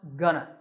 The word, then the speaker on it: gonna: the future notice that it's not gonna it's pronounced gonna here are some sentences practice saying them after